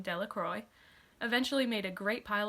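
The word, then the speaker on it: Dellacroy: dickie de la croix the villagers pronounced his name de la croix eventually made a great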